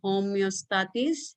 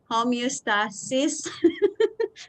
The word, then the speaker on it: homeostasis: na daw taana that's why we call it homeostatis have you gugo ka pronounce ana akong anak ng med school ka pronounce ana homeostas homeostasis so Sorry.